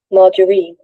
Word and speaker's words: margarine: Margarine, margarine, মার্জারিন বলতেছে, ঠিক আছে।